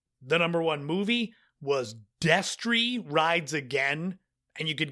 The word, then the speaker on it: Destry: It is spelled Destry. I've had to edit out myself saying Destiny Rides Again several times.